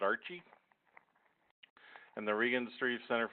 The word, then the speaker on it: RCHE: it's a mouthful so we just use the acronym and pronounce it Archie and the Regan Street